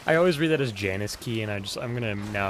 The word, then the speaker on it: Janus: See, I always hear him pronounce it Yanis. He does, with a Y yeah.